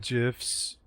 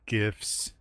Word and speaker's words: GIF: pure dollars and cents it's not gifs it's gifs I agree it makes no sense phonetically we've had this argument so many goddamn times the man who invented it said gifs if you invent something you get to name it before jpeg was